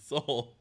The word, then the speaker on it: Seoul: Western and self eastern Seoul so like the salt like soul music there you go like